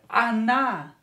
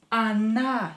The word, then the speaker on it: она: Don't forget that when о is not stressed, you have to pronounce it as а. Они, they. Они, as well as here, она, она, she.